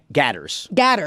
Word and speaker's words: Gators: Gatters. Don't say gators. Okay. You can't, it's Florida. Don't say gators. Gatters.